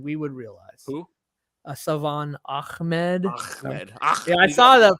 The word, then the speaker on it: Ahmed: You gotta put the phlegm in there.